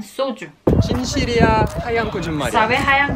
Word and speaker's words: 소주: Aquí suena un poquito extranjero. Soju. 열정, 소주. Pero los coreanos pronuncian soju.